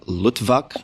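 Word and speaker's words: Luttwak: coup d'etat a practical handbook by edward n lutvak i'm imagining that's how you pronounce it l-u-t-t-w-a-k and it was originally published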